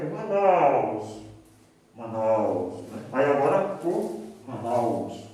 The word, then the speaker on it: Manaus: hotelaria, em alguns estabelecimentos, a palavra Manaus, com acento no O. Está errado por quê? Porque a sílaba tônica é na, né? Ou seja, é uma palavra paroxítona, não é oxítona, né? Então é Manaus, né?